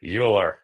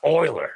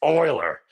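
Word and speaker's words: Euler: all time Leonard uler you pronounced it or at least I did uler and then you hear someone else saying it's like no it's Oiler it's Oiler yeah and then you come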